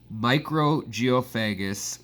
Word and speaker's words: Mikrogeophagus: magazine threw out the idea of Mikrogeophagus with a K, M-I-K, micro, in the more Scandinavian or Cyrillic Russian pronunciation style of micro.